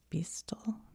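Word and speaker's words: Beistle: one's probably it says I think it's pronounced Beast b e i s t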